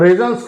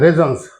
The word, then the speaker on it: raisins: इसमें क्या करते हैं, जो हमारे यहाँ जिसको ये लोग 12 रेजन्स खाते हैं, रेजन्स, रेजन ये लिखा हुआ है, ये स्पेलिंग है इसकी RAISINS।